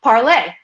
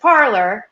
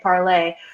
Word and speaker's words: Parler: her son uh parlay it was parlay originally and then as you were saying in your little film in the intro there a lot of people around here just pronounce it parlor and perhaps if we want to even reboot the pronunciation we might be asking too much of americans to say at parlay so i i would